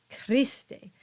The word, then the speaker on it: Christe: Next is the letter H, and H is silent. So this word is pronounced Osana. And these words are pronounced Cherubim, Sabaoth, and Christe.